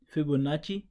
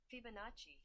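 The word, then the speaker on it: Fibonacci: इसको कहते हैं फिबोनाची, फिबोनाची सीरीज या सीक्वेंस, ठीक है। इसको सुन लें कि इसको प्रोनाउंस कैसे करते हैं, फिबोनाची, ठीक है। मैं इसको ज़रा आवाज़ तेज़ कर देता हूँ, आप सुन लें, फिबोनाची, फिर सुन लें, फिबोनाची, ठीक है, फिर देख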